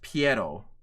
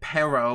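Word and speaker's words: Pierrot: a video um tomorrow by the way it's pronounced PTO I don't know what the fudge people are pronouncing it perro or whatever the fudge PTO is the animation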